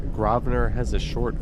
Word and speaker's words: Grosvenor: But the one thing that there is a consensus on is that you do not pronounce that S. It's grow or Grosvenor.